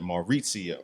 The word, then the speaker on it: Maurizio: That's how you pronounce that, Maurizio.